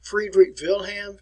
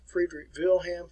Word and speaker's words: Friedrich Wilhelm: easy name to remember i'm going to pronounce it in german for you friedrich wilhelm friedrich wilhelm frederick williams and it's